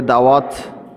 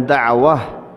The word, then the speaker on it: দাওয়াত: আমরা দাওয়া এটাকে দাওয়াত এভাবে উচ্চারণ করি। উচ্চারণটা দুভাবেই বিশুদ্ধ। যদি বলেন দাওয়াহ, শেষে হ উচ্চারণ করেন বাংলাতে, তাও বিশুদ্ধ। যদি ত উচ্চারণ করে বলেন দাওয়াত, দাওয়াত, তাও বিশুদ্ধ।